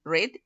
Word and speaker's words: read: sólo la pronunciación cambia si es presente la pronunciación es read y si es en pasado va a ser como la pronunciación del color red ok made play plate